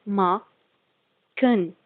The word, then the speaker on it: machen: ch in the end, so its pronunciation will be k in that case. Like you have a verb, you have a verb, machen.